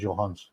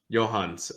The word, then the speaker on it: Johannes: Yeah, it's spelled Johannes, but you would just pronounce it as Johans. Johans, okay.